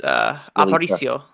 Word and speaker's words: Aparicio: No, I mean, the only person that we didn't talk about is Aparicio.